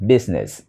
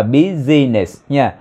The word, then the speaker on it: business: our dance save our business to save of this year vụ này là từ có hai âm tiếc business business business business business đừng đọc là businesses of business This business